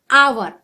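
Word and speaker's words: hour: weighted there for blank आवर यहां H silent है और आ का उच्चारण हो रहा है वोल साउंड इसलिए यहां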